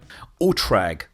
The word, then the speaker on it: OTRAG: O T R A G. I don't know. It's German. Scott Manley, how do I pronounce this? OOTRAG. Orbital transportin AG or Orbital Transport and Rockets Incorporated. Oatra. Got it.